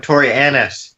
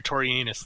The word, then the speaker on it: Torianus: I am Tori Annis. Annis. No, you're Torianus. There you go.